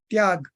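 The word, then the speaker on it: त्याग: sorts of attachment abundant means renunciation pronounced tiag all sorts of attachment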